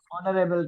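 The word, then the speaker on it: honorable: हाँ जैसे कि हाँ और कहते हाँ हैं, हाँ, रवि रवि ऑनरेबल कहते हैं, जहां पर भी साइलेंट एच है।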